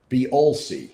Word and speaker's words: Beolsi: So just to make sure I did not mispronounce the name, someone else wrote in that it's Beolsi.